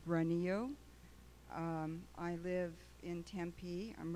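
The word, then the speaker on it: Granillo: lot of requests to speak form so granny Oh representing self from Tempe hello my name is Jae a na and the last name is spelled G RA and I ll oh it's runny oh I live in Tempe I'm representing myself and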